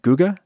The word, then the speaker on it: Guga: I think he pronounces his name Guga, right? Not Guga? Because it's short for Gustavo, right? Guga?